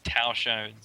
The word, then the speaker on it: Tao Shones: So it's Tao Shones.